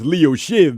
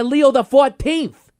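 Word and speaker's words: Leo XIV: The Pope goes by Leo the 14th. He's the 14th Pope to go by Shiv. No, no, no, no, no, no, no. He's just Pope Leo the 14th.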